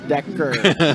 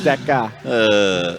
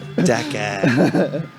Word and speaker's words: Decker: That's Decker, not Decca. Decker.